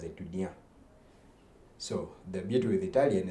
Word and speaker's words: étudiant: But when you look at it, if you read it as it is étudiant. But the French people pronounce it as étudiant.